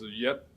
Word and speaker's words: 月: And yue pronounced as yet in Middle Chinese and Cantonese.